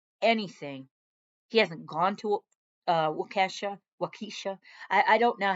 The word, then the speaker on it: Waukesha: Waukesha. I'll say it like that because it's Kesha and, Kesha with the dollar sign.